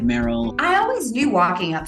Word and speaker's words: Meryl: I lived in Louisiana for quite a few years, and they pronounced my name Merle, and I hated it. Oh yeah, I said my name is Meryl, like Merle Haggard. Like, no, Meryl, like Meryl Streep.